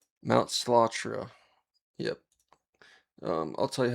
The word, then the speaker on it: Slatra: Um they're it's the album is five times five and the band is called Mount Slattra. Yep. Um I'll tell you how to spell it.